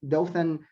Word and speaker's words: Dothan: He joined in 2011 the Dothan, is that correct? Am I pronouncing that correctly? Yes, Dothan Downtown Redevelopment Authority.